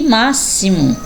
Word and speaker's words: máximo: exame exército e exemplo vamos ver x com som de ss olha só que diferença agora não é palavrinhas com dois ésses vamos lá próximo auxílio e máximo realmente não fonema as